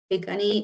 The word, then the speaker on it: Pikuni: Pikuni is pronounced Pikuni and then our Blackfoot relatives across the medicine line are Amskapi Pikuni.